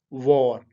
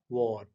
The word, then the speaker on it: war: तो ये भी W से स्टार्ट हो रहा है, तो आपने होंठों को गोल करके इसको प्रोनाउंस करना है यानी बोलना है, वो है वॉर, वॉर, वॉर। इसको आपने वार नहीं कहना आपने।